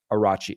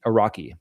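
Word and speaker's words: Araghchi: President Masoud Peseshkian and Foreign Minister Arachi Araki is how you say that, I guess.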